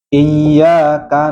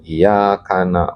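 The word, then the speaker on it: إِيَّاكَ: Eh iya karena bahaya kalau tahu hatinya kalau tidak pakai tasdidina iya bisa musyrik. Sebab kalau iyaka na'budu hanya kepada engkau kami menyembah kalau iyaka budu kepada ee cahaya terangnya matahari. bisa musyrik itu bisa kufur.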